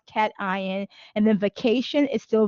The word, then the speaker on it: cation: uh cat eye if you say this is cat eye and then what do you say this is